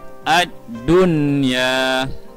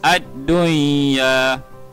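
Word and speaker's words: الدنيا: cara bacaan Idgham alkuna karena non disini perlu dibaca dengan jelas kita akan baca Adun ya add-on ya itu tidak boleh wajib nih Aduh iya aduh Iya bacaan gini salah kerana ianya berlaku pada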